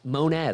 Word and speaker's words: Monez: have just kept the moan again crushed my last name pronunciation out of the gate it's monet i did sean called it moan initially i almost spilled